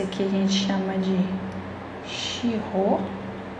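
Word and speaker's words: 司法: Esse aqui a gente chama de shirô. E esse aqui a gente chama de gyosei. Então, a pronúncia iripô, pô é mais alto. Shiho, shi é mais alto.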